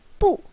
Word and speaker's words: 不: And you need to be careful about the pronunciation of no is 不 the last tone.